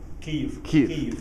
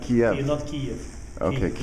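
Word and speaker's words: Kyiv: around 4 million and the proper pronunciation I said it right Kev KV not not Kev you know I'm I'm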